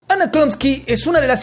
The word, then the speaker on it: Chlumsky: Chlamsky..chl...nn...s...slumsky Ok, one interesting thing about this girl is, that her problem is that nobody can pronounce her last name which is as simple as Chlumsky. Like that.